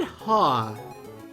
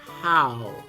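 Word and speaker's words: Hau: So I said Ha in my recent video, the new rival in Sun and Moon, but you know what? I think it's actually How.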